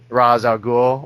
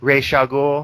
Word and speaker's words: Ra's al Ghul: begins with with the ra's al ghul or ratio goal however you want to pronounce it oh yeah definitely you